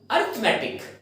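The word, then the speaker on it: arithmetic: Next word हमारा होता है, देखिए अरिथमेटिक। इसको थोड़ा सा इसके प्रोनाउंसिएशन पे ध्यान दीजिए। इसकी प्रोनाउंसिएशन जो है अरिथमेटिक, अरिथमेटिक नहीं अरिथमेटिक।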